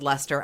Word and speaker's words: Leicester: So it's spelled Leicester on this entire fucking story.